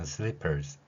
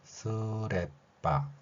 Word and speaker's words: slippers: 이 상태에서 마지막 시옷을 흘리듯이 약하게 소리를 내는 것이죠. 그러면 sleepers 이렇게 발음할 수 있다는 것입니다. 이렇게 가능한 글자 표기임에도 불구하고 이 어 발음이 일본어에는 없기 때문에 아 발음으로 바뀌고요. 그 다음에 여기에서도 마찬가지로 리을도 한 번만 쓰고요. 무조건 모음 을을 넣어서 쓰레빠 혹은 쓰리빠라는 발음. 일본인들은 쓰리빠 이렇게 발음합니다. 한국인들의 경우는 쓰레빠 발음을 하고 있지요.